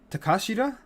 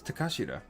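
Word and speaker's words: Takeshita: for konosuke takashida i think it's takashita yeah konosuke takashita he was on uh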